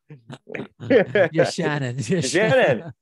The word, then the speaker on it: Yachanin: Yachanin.